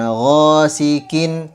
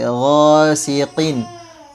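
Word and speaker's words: غاسق: Ya, huruf qof ini sama kayak tadi penjelasannya, jangan disamakan dengan huruf kaf. Dia tebal sedangkan kaf tipis. Jadi bukan ghasikin, tapi gosiqin qin. Jadi meskipun dia berharakat kasrat, tapi tebalnya tetap ada.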